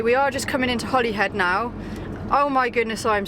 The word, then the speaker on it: Holyhead: Okay, we're just coming on to Holly Island or Holy Island, but I have looked it up and you pronounce Holly head. Holly head, not Holy Head.